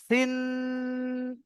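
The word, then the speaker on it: سين: সি বলে টানটা করতে হবে। সিন এমনভাবে দন্তন্যটাকে চেপে ধরে রাখবেন। এটা ভুল উচ্চারণ হবে।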